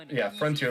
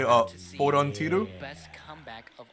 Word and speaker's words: Frontier: If they put Frontier on stream first, it'll be the first. Frontier. His tag is Frontier. Frontier.